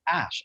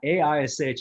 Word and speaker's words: Aish: to be sure that So it is Ash, actually. Is it? But yeah, A-I-S-H is actually a Hebrew word, and it's pronounced as Aish in Yiddish.